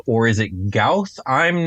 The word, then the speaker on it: Gauth: So today we are tackling another beholderkin creature, the Gauth, or is it Gauth? I'm not actually sure, but I've been pronouncing it as Gauth this entire time, so I'm sticking to it.